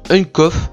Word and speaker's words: UnkoFX: Et donc le deuxième candidat c'est bon, vous savez quoi, on va dire Unkoff, voilà, je vais pas prononcer l'UX.